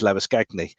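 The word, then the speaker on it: Labuschagne: some studio work and every time he referred to uh lavashayne he was actually using the south african uh pronunciation which is lava scagni and it was quite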